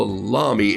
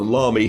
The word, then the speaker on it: Lamy: pen it's it's it's called a lami l-a-m-y or lamy but our our dear friend john robert small used to call it the llamy he says it rhymes with mommy but it's l-a-m-y if